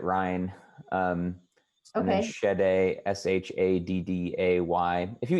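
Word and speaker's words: Ryne: human rights commission yeah it's r-y-n-e i think he pronounces it ryan um okay s-h-a-d-d-a-y if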